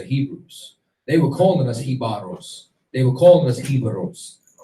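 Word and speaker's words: Jíbaro: Like, and what you're gonna see is that there's certain things like, for example, Hibaro, or Hibaro is the real pronunciation of it.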